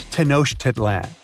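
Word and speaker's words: Tenochtitlan: It's Tanosh Titlan. And Mayan cities are hard to pronounce, too.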